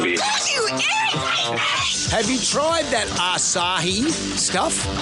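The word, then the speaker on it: açaí: Have you tried that acai stuff? I said a beer, acai. No, that's acai acai. Acai. What are you talking It's spelled acai.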